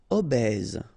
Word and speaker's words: obèse: Obèse, remember, E accent grave, est, obèse. Don't insist on the final E.